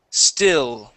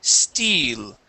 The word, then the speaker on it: still: Remember with still, okay, use a short I. You had said steel is an E sound. We want to use an I sound.